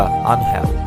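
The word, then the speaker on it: Ángel: অবশ্য বাংলা উচ্চারণটা আনহেল, ইংরেজিদের নামের বানানে অ্যাঞ্জেল, অনেকে উচ্চারণ করেন অ্যাঞ্জেল নামে।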